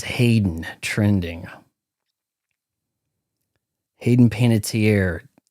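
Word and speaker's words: Hayden Panettiere: It says Hayden trending Hayden Panitier. It might actually be pronounced panitier I think she said once dead at 36.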